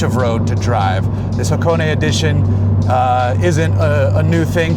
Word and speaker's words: Hakone: This is the limited edition Hakone. Okay, let me back up in case I'm pronouncing that wrong, but I'm pretty sure it's Hakone.